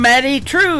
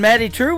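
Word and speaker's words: Maddye Trew: That is a brand new single from Maddie True. It is Maddye on her first name, and True is spelled Trew.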